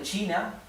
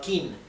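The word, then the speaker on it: 秦: una Che por ejemplo el primer emperador de China no era el emperador kin era el emperador chin inin s bien la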